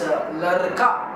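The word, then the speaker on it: लड़का: America, American, American, so that sound, you know, lurka, lurka, lurka. It's not ladika, neither it's lurka, like not r, not d, right?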